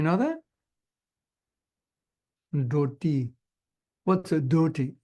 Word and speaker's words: dhoti: What's a dhoti? It's a dhoti, pronounced properly. Dhoti is a dhoti pronounced properly, in case you didn't know. It's not called a dhoti.